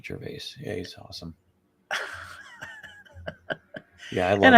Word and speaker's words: Gervais: Ricky Gervais is my favorite. He's hilarious. Yeah, I said Yeah, I pronounced his last name wrong. Yeah, Ricky Gervais.